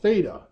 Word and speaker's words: theta: That is the Greek letter pronounced theta.